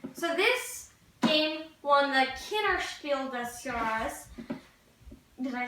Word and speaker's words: Kinderspiel des Jahres: So this game won the Kinderspiel des Jahres.